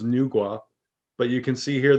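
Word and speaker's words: Nüwa: japan an earth goddess i believe the pronunciation is nugua but you can see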